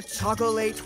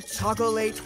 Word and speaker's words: chocolate: But listen to that particular part of the song again and see how Willie is being silly by changing the end so that it rhymes with the next verb.